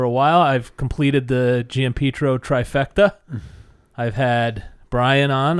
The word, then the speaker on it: Giampietro: Giampietro is really proper, but we go by Giampietro.